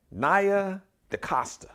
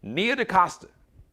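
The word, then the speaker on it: Nia DaCosta: to congratulate uh naya naya decosta i want to make sure i'm pronouncing her name right or is it no nia like me along nia de costa all right i got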